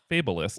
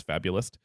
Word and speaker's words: fabulist: So you'd think it'd be pronounced fabulist, Right. but it is not. It is fabulist.